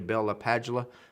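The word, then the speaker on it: Bell-LaPadula: I think it's actually Bell LaPadula. I used to work with a gentleman, brilliant guy, that actually met or listened to him speak, and that's how he said he pronounced his own name.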